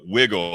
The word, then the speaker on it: Wigle: about the Pennsylvania whiskey this is wiggle it's it's it's spelled WI GL e and we can hold